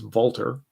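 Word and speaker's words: Walther: I guess actually it's Walter, if I was trying to pronounce it correctly.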